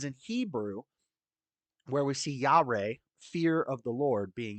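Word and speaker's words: יה: spelled y i ah is pronounced yah not Yahweh yah um what kind of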